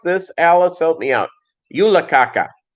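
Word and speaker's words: julekake: did i pronounce it right alice did i pronounce it right yeah yula kaka terrible name i did pronounce it right you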